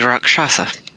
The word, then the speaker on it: Rakshasa: The Rakshasa.